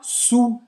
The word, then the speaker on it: sous: Sous la table. Sous la table. Você não vai pronunciar esse S no final. E o som do OU vai ser o som de U, como em português.